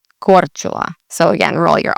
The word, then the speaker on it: Korčula: And again, you're going to put the emphasis on the beginning of the word, Korčula, Korčula. So again, roll your R, the CH, and then ula, Korčula.